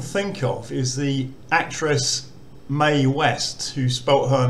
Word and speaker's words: Mae: of is the actress mae west who spoke her name m a e she spelt it that way but it was actually pronounced may m-a-y so if if you're